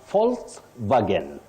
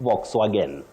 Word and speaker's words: Volkswagen: mayonnaise mayonnaise no mayonnaise now volswagen volswagen not Volkswagen now the last one